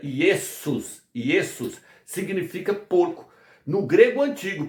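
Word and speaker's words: Ἰησοῦς: No grego, o nome Iesos, que se pronuncia Iesus, significa porco.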